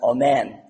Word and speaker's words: amen: which sounds like in English spelled Allen It's pronounced amen and that's actually where we get the word